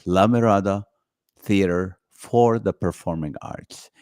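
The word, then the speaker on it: La Mirada: the contract that they have to say it correctly and I it's a lamirada theater for the Performing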